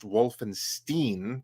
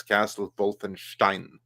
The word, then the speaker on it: Wolfenstein: Germany that's called Wolfenstein so then it's not going to be pronounced Wolfenstein that's an American pronunciation based on those who don't know how to say it it's Castle Wolfenstein it's almost more of